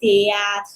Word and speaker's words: théâtre: In this case, the last consonant is R. So we say théâtre. And this is a combination. The T and the R, they're pretty much together. This is a combination. So we do pronounce théâtre.